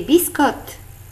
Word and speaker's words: biscottes: Et dans le mot biscotte, on ne prononce ni le E ni le S.